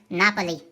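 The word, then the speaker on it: Napoli: На итальянском он произносится как Наполи.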